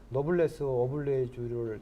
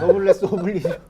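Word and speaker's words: noblesse oblige: 사실은 우리 지금 이 아르누보 계신 분들한테 우리 시민들이 노블레스 오블레주를 조금 실천해 주시면 발음 다시 한번요. 노블레스 네, 노블레스 오블리주.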